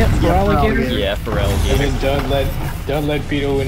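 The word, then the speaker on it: Feraligatr: Yeah, Feraligator.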